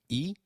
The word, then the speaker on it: y: Lise it means and it is pronounced same as the sound of the letter E in English so can you try saying e it is e all